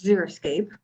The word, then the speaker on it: xeriscape: natural landscape to help you remember how to pronounce this word it's xeriscape here are some examples so remember that zurich